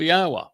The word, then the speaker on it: Yahweh: Moshe, he explained that the basis of his name was the Hebrew verb Haya, which means to exist. And Haya is written Hey, Yod, Hey. And therefore it tells us how to pronounce the first and last syllable of Yahweh. Yah and Ah. The O sound comes from the Wah.